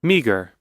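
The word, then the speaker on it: meagre: You can see that in a spelling we have the ending GRE, but in the pronunciation Meager. meager, they actually change their places.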